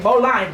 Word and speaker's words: bowline: b o WL ing bowline bowline yeah it's spelled like bow tie bow like the bow of a boat and line yeah so bo w